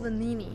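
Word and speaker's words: Venigni: It's called Vanini. You don't pronounce the G.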